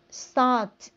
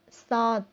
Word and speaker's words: salt: Rồi, salt. Salt là muối. Tôi nói lại chữ này viết là A nhưng mình đọc là O.